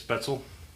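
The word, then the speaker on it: Spätzle: I know what it looks like, but that's the proper pronunciation is Spetzel.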